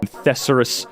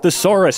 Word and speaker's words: thesaurus: dude you're you're a therus you're a therus boy and yes I know it's pronounced thesaurus shut up I'm trying